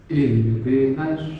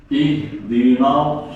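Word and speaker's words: اهدنا: nah itu huruf tipis ihdina na jangan sampai ikut-ikut short jadinya nanya ganti no ihdinos wah itulah anunya mobil ya nos nels jadi nanya kalau bisa dimeringiskan dulu nels bukan nos nah coba ihdina ihdinas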